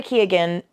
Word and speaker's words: Keoghan: Barry Keoghan, I believe that's how you say his name. Keoghan. No, Jacob Elordi and him were in an interview. I think it is Keoghan.